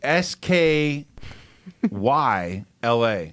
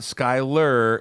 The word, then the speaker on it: Skyla: for you guys everybody s k y l a sky la not skyler and then by the